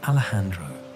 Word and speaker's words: Alejandro: It became Alejandro, the J pronounced with the throaty sound characteristic of Spanish, giving the name a warmth and strength.